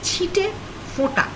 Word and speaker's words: chite fota: Also note, in chite fota I have put the n's in brackets, so they are not full n's. They are not pronounced as full n's. They are a light touch n. In Indian script they are written with Chandra Bindu. but when you are pronouncing them, pronounce them as chite fota.